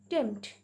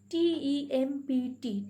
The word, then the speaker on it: tempt: Then tempt. T-E-M-P-T, tempt. See here, P is slightly pronounced.